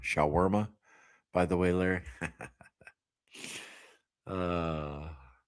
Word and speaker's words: shawarma: Uh that word that's pronounced shaarma. Shawarma by the way Larry.